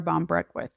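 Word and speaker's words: Ban Breathnach: But I found the book Something More by Sarah Bon Brew. That's how you pronounce her name.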